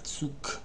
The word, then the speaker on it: Zug: Alors en fin de mot, le g se prononce k. Vrai ou faux? Vrai. Comme der Zug.